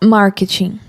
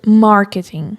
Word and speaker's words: marketing: Geralmente, na pronúncia original do inglês, o R é muito mais forte, então é marketing, marketing. E sem falar que a palavra termina no T, então a gente não vai falar marketing, não.